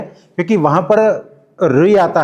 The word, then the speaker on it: ऋ: ऋ हमारे गुजरात में इसका उच्चारण रू होता है।